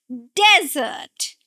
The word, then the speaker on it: desert: And another one is desert. Desert. Now, this is where we are going to stress the first syllable.